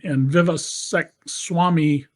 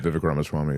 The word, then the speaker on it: Vivek Ramaswamy: Elon Musk and Vivek Swamy, I'm mispronouncing his name. Yeah, right, Vivek Ramaswamy, yeah.